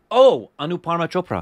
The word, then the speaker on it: Anupama Chopra: Anupama Chopra. Thank you. Yeah. I can't pronounce her name.